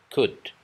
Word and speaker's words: could: Misalnya, could. Could. L-nya nggak usah dibaca.